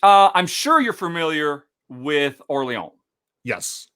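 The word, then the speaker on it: Orléans: My number 4 is Nomopolis, which I'm sure you're familiar with Orleans. Yes. Or Orleans, as I'm sure many people pronounce it, because that's what it looks like.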